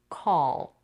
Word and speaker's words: call: is too soft but here we need the dark l o that is when appears at the end of the word or syllable in English it has a slightly different quality from the L that comes in the beginning of a word or syllable if you make it too soft The Listener might confuse it with an R here the difference between